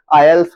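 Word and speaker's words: IELTS: है एडमिशन से पहले आयस बोलते हैं उसको तो इसकी स्पेलिंग क्या है आई ई एल टी एस तो आल्स इसको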